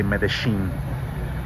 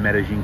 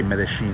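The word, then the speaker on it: Medellín: But, you know, Argentinians like to say Medellin. Guys, I'm not trying to confuse you. I'm in fucking Colombia. I'm in Medellin, Colombia. Just have to say Medellin because I've been to Argentina, and they pronounced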